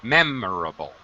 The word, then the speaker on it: memorable: at the beginning uh pronunciation memorable first syllable stress memorable memorable memorable meable okay